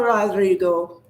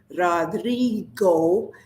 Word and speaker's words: Rodrigo: And he was surprised that I uh, pronounced his name right, because some people drop the D and sound the R. Instead of saying Rodrigo, they say Rodrigo, and that's wrong.